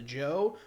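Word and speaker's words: Zhou: talking about it and a great example is the joe we spell it z-h-o-u which makes no damn sense um but anyway going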